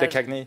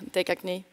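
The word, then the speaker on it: De Caigny: Sen så tycker jag också uttalet är... Dekagny. Ja, tack. Dekagny.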